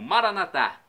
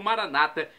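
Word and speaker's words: Maranatha: E agora do aramaico eu clamo Maranatá, como dizemos nós católicos, ou Maranata, como dizem nossos irmãos separados, os evangélicos ou protestantes.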